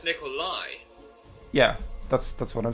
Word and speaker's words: Nikolaj: Also, why is it people can't pronounce my name? Nicolas. It's like, I'm not a fucking collage. Where is S in your name? No, that's not. But you just said Nicolas. Yes, because that's how people pronounce it for some reason. No, Akram was saying Nicolaj. Yes, but it's Nikolai.